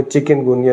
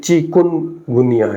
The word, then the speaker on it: چکن گنیا: بیماری لگ رہی ہے، حالانکہ صحیح جو اس کا تلفظ ہے، پروناؤنسیشن، وہ چکن گونیا نہیں ہے، بلکہ چکن گنیا ہے.